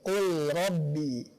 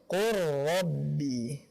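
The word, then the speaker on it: قُلْ رَبِّ: Bukan seperti ini, qul rabbi. Akan tetapi qur rabbi.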